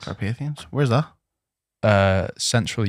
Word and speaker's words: Carpathians: Carpathians. Carpathians.